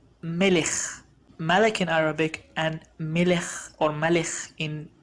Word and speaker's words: melech: it's pronounced as ha another example will be the word king in arabic it's malik the last letter is the kaf malik in hebrew it's the same but it's pronounced differently so it's pronounced as melech malek in arabic and